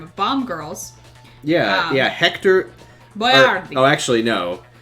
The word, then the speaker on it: Boiardi: Boiardi. Actually, no. It's Ettore Boiardi. And then they started calling him Hector Boiardi. And he put his name on his chef's hat, spelled out Boy-R-D.